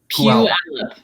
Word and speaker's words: Puyallup: Puyallup.